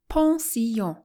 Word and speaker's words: pension: part two in pensions pronounce it as a french word ponsi with as much of the nasal twang for the two ends as you can muster don't accent the first